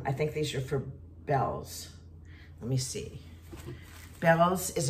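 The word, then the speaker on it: Bealls: think these are for bells let me see Bellows is a store in Florida it's a department store it's b-e-a-l-l-s and I thought it was pronounced Beals but it's pronounced Bells because I've called them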